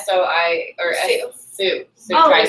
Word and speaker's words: Sioux: It's like SOI or Sioux tribe. Sioux tribe. Yeah, I was like the X. There's no X. Did he talk about at all like his anger towards that title, or at all? The Sioux tribe?